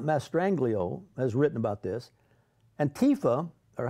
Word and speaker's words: Antifa: Antifa, or how do you say? I say Antifa. That's the way to say it, Jay.